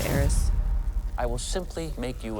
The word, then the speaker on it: Ares: Oh, it's Eris? He's biblically strong. Did I say it wrong, Sid? lightning I think fast, everyone's been saying Aries. Right. I think it's Eris.